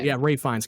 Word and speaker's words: Ralph Fiennes: I think it's Ralph Fiennes, if I'm pronouncing his name right. Ray Fiennes.